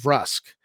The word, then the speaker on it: Vrusk: it now i believe i actually did say verse for a long time uh when the game first came out and i first got the game i think we pronounced it verse and later on i uh you know when i was older i just i really think it should be rusk and i really believe